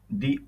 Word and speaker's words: the: প্রথম নিয়ম, দি যদি ভাওয়েল সাউন্ডের পূর্বে বসে তাহলে এর উচ্চারণ হয় দি এর মতো। যেমন একটা উদাহরণ দেয়া আছে, The old man is standing.